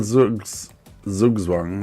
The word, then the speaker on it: Zugzwang: Have we got a Zugzwang? That's how I say it, but you're meant to say it with the TS, like that's how I've been told by my Dutch friend that it's pronounced in German.